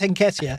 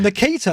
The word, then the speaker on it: Nketiah: By the way, we've said 3 different pronunciations of Nketiah tonight. I'm sure it's Nketiah. You've gone Nketiah, and then Luke has gone Nikita like he's some kind of Elton John fan.